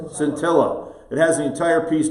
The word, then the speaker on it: Scintilla: How do we pronounce this again? Scintilla? Scintilla.